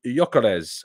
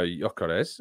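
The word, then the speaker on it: Gyökeres: uh Tom isach or Yokes um which I'm now apparently pronouncing correctly you don't pronounce the G supposedly um uh i' think I'd go yores uh isak's injury record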